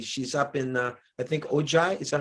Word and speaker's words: Ojai: She's up in, I think, Ojai. Is that how you say it? Ojai? Ojai.